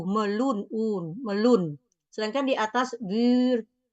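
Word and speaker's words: meloen: di sini kita lihat o o sama e dibacanya u melun UN melun sedangkan di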